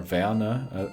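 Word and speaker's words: Werner: You could be Tim Warernner who played really well in Germany but once or Vanna actually how you how it should be pronounced in German.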